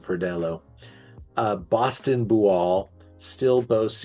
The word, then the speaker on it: Verdelho: sweeter than either they make one called the Charleston Cersei or the Savannah Verdeo uh Verdello. Sorry, I'm saying it wrong. Sorry about that. Verdello.